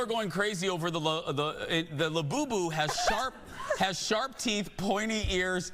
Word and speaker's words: Labubu: People are going crazy over the Thank you for the pronouncer, Jeff. It's called the Labubu.